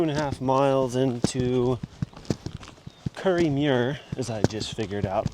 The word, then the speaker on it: Kirriemuir: We got about 2 and 1/2 miles into Curry Mir as I just figured out what it's how to pronounce it.